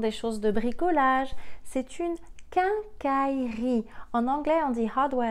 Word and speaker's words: quincaillerie: la maison des choses de bricolage c'est une quincaillerie en anglais on dira doigts et ce taux donc c'est une quincaillerie quincaillerie un as i le est silencieux y est le est silencieux quincaillerie qu'un cas y rit quincaillerie le septième au